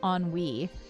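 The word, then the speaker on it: ennui: A we found out enui is actually pronounced onw wei.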